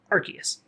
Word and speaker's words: Arceus: to know that that one of the hardest names to pronounce in the game that everyone always fights over is arceus uh so pokemon legends